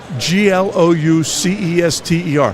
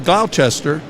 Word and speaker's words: Gloucester: It's spelled G L O U C E S T E R. How do you spell? It's It sounds like Glowchester, but it's Gloucester.